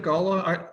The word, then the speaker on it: Gullah: How do you pronounce it, Gullah? It's not Gula, it's Gullah.